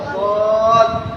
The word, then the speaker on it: ضاد: কঠিন হ্যাঁ তাহলে জদ জদ ভিতর থেকে আওয়াজ যেহেতু জিহ্বার গোড়া আবার দাঁতের গোড়া জদ ضاد না ঠোঁটের